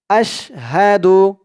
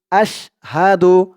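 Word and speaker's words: أَشْهَدُ: রাজিম বিসমিল্লাহির রাহমানির রাহিম আশহাদু হাদু হামজা শিন জবর আশ আশ হা জবর হা আশ হাহা দাল পেশ দু আশহাদু আপনারাও আমার সাথে বলুন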